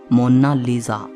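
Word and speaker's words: Monna Lisa: कोई इसे मोनालिसा कहता है तो कोई मोनालिसा कहता है, लेकिन इटालियन में इसकी करेक्ट प्रोनाउंसिएशन है मोनालिसा।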